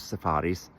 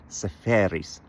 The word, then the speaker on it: Seferis: And um I had lunch once with a fascinating guy who translated Yorgos safaris. I keep saying safaris like safari is saferis.